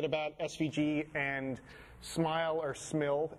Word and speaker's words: SMIL: SVG and Smile or Smil. Everyone says it's supposed to be pronounced Smile, but I think it should be pronounced Smil.